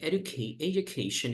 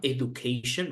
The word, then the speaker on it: education: And by the way you pronounce this word, right, it's not education, right? But you see, education, like it's like j, education, education, education. So it's more like a j and not like d, right?